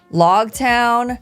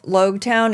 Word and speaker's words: Loguetown: One of my patrons said, the pronunciation of Loguetown is like epilogue or prologue. So I'm gonna say log because in the last